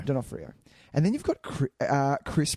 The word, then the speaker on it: D'Onofrio: Vincent, is it D'Onofrio? D'Onofrio. D'Onofrio.